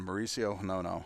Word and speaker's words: Mauricio Hinono: And that brings up left fielder Mauricio Hinono. Am I getting that pronunciation right, Tyler? You are spot-on, Mauricio Hinono.